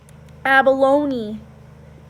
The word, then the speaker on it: abalone: B alo and II and this is abalone abalone okay and the last one